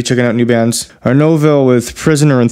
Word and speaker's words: Nouvelle: Nouvelle.